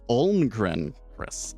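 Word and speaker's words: Almgren-Chriss: Almgren Chris. And yes, it's with 2 S's. That one, I think the study that they wrote is called Optimal Execution of Large Portfolio Transactions. Oh, it's pronounced Almgren Chris.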